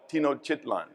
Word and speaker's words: Tenochtitlan: My Nahua pronunciation isn't very good, but I call it Tenochtitlan.